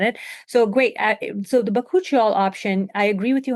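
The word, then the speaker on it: bakuchiol: Um I usually pronounce it as bakuchial because that's what I heard being Yeah.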